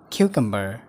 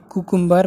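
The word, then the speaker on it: cucumber: क्युकम्बर, यसलाई हामी नेपालीहरुले कुकुम्बर भनेर प्रोनाउन्स गर्छौं, तर यसको शुद्ध उच्चारण हुन्छ क्युकम्बर। क्युकम्बर।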